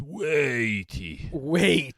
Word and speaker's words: Waiti: Brewed to showcase the Waiti hop. It's weighty. Weighty.